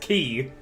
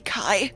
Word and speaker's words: chi: night, I learned that there is a Greek letter called chi, pronounced ki. And it looks like the letter X. Yeah, I think it's actually supposed to be Kai, by the way.